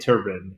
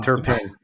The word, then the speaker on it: Turpin: Uh but on the other side for the Cowboys, it's uh uh Cavante Turban and I hopefully pronounced that correctly. Um Turpin Turpin.